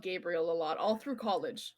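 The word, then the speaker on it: Gabrielle: Gabriel is pronounced the same for men and women in French. So I get called Gabriel a lot, all through college.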